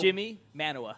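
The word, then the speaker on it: Jimi Manuwa: Is it Jumbawa? I don't know. Jimmy Manuwa.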